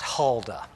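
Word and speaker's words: Huldah: um to the prophet i guess it's pronounced halda h-u-l-d-a it says who is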